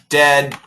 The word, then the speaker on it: dead: This is like uh dead uh dad. Uh people do get confused. This is a short e sound. Uh we call it the short e and this is the short a sound or short a and this is very